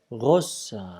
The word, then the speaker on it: grosse: Avec un S, avec un E, et donc, il faut prononcer vous êtes grosse.